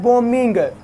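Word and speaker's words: bombing: यहाँ पे ये जो बी है ये साइलेंट है, इसको आपने नहीं पढ़ना, ये है बॉम्बिंग।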